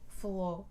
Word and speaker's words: falou: fim prio comeu falo estou aqui é o falou não é farol flor abriu o meu Falou